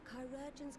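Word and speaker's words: chirurgeon: the finest care our chirogens can provide on that you have my word chirogen that's how you pronounce it chi so like greek letter urgent like surgeon now we will share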